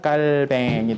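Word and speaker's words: Calvin: 그 프랑스 사람이에요 아까 이걸 프랑스식 발음으로 읽어야 되요 이걸 프랑스식 밝음으로 이를 보면 까 뱅이 됩니다 깔 뱅이 됩니다 까르뱅 인데 까리 들어가면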